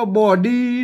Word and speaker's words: บ่ดี: เป็น กรรม พิเศษ โบราณ ไม่ ใช่ ว่า อ่าน ว่า บีบ นะ ครับ อ่าน ว่า บอดี้ นะ ครับ บ่อ ดี อัน นี้ เป็น กรรม